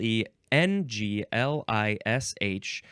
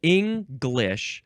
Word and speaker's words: English: was thinking about it's English that's one pronunciation and the other pronunciation has no G sound at all English English MH um yeah